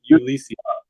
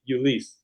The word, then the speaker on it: Ulysse: so how do you pronounce the name i pronounce it lisi i say my name is ulisi but other people in my family they'll say you lease or you list so there's multiple ways to pronounce just can